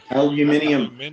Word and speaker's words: aluminium: different yes like buggery they don't pronounce aluminum the same over there either aluminium oh yes the yellow